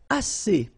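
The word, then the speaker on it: assez: And then assay means enough. Okay. Assay. Remember two vowels here and then. And then double s. So it's really strong the si.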